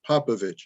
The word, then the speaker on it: Popovich: And I'm going to say Popovich. Is that how you pronounce it? That is correct. That's right. Silent H. There's a little accent mark.